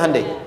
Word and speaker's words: Hyundai: Hyundai kan dibacanya Hyundai, kan?